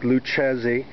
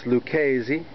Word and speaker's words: Lucchese: c hes e uh it appears to look like luchesi but it's liesi like the Italian um mob family forget about it I